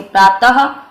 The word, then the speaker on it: प्रातः: इसका उच्चारण हमेशा अह रूप में किया जाता है, जैसे प्रातः, अतः, प्रायः और संभवतः।